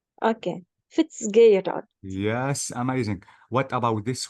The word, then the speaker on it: Fitzgerald: By the way, Maisa, you can Uh, pronounce this E as A. So I can say Fitzgerald. okay. Fitzgerald.